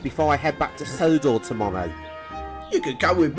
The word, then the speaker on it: Sodor: on the island of sonar i had to take a good train to bridlington and it's pronounced sodor merlin very well then